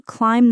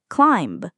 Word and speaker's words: climb: I need to climb the mountain, not climb.